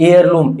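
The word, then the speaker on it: heirloom: एयर में यहां पे एच साइलेंट है। तो यहां पे भी क्या आ जाएगा? एन दोस्तों। उसी प्रकार से एयर लम।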